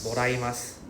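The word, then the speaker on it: もらいます: Moraimasu.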